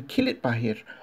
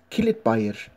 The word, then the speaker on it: Kilitbahir: of the old houses locals in kill it by here often refer to their village as kill it buy it a local Turkish dialect